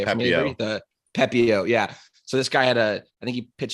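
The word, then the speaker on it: Pepiot: The Pepio.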